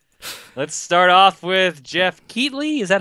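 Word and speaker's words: Keighley: start off with Jeff keatley is that how you say his name I think it's keatley yeah I think you're right ex I used to say nightly and then people like no it's keatley or key oh like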